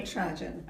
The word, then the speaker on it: Natarajan: Oh, you're going to have to pronounce it for me. Natarajan.